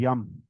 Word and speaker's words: यम: और जैसे कि कल हमने रम का किया था, इसका भी उच्चारण य की तरह किया जाता है।